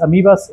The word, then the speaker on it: amiba: de yaria y amebas amibas o amebas Cómo se dice amas amibas se escribe amebas ameba es en inglés